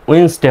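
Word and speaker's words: Wednesday: সঠিকভাবে করেন তাহলে তাহলে উইনসডে হবে উইনসডে তাহলে উইনেস ডে নয় উইডেনেস ডে নয় এখানে ডির উচ্চারণ সাইলেন্ট হি এলই এফটি লেফট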